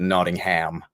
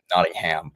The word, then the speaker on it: Nottingham: about five years now the Americans call it ning ham not Nottingham we call it Nottingham is how you guys probably pronounce it but yeah um I've had a